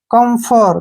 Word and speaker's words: camphor: PH का उच्चारण फे के रूप में करना है, ठीक है ना, और OR का उच्चारण सीधा ही रे होगा, ठीक है ना। कम्फर, क्या पढ़ेंगे इसको? कम्फर, कम्फर।